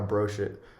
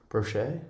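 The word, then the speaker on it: brioche: and bought a bought a brochure brochet is how you say it yeah yeah um with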